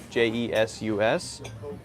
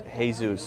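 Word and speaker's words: Jesús: it's pronounced Joshua but someone named maybe j esus in for example Mexico will be pronounced hey-zeus instead of Jesus they'll be pronounced hey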